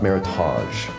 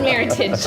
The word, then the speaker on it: Meritage: So And can you say, for those people that are home, saying, she says it's not Meritage. no, it is definitely not Meritage. Listen, folks, please. It's Meritage. All right. It rhymes with heritage.